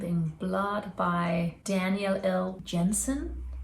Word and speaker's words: Jensen: by Daniel ill Jensen or is it Yensen because we've got Yensen as a last name in Denmark and then you don't pronounce it as an English J but if she's not Scandinavian I think it's still Jensen do you guys know it's